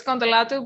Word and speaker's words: Kontolatou: We won't get into that on this show, but we've also got Kontolatou. Is that how I pronounce it? Yeah, it's it's Kontolatou, but it's Greek, so it's very hard to pronounce it.